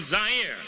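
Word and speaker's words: Zaire: to you live from zire some would pronounce its air they're wrong it got big laughs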